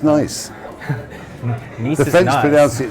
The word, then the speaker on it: Nice: Because it's nice. Nice The is French nice.